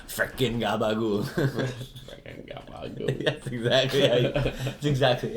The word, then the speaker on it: gabagool: Freaking gabagool.